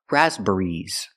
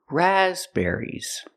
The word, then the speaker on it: raspberries: cannot pronounce the word raspberries raspberries first the stress We cannot put any stress on the third syllable there's only one stress it's on the first syllable raspberries the second syllable is